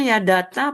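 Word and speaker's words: יָדַעְתָּ: Yadaita. Yaada bacanya ya data apa yaadaita sih Pak? Yada ya kayak ada berhenti kayak ada koma di sini. Yada ta gitu loh.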